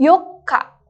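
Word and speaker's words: よっか: Tanggal 4, yokka.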